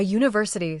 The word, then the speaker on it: university: A university starts with the a consonant sound.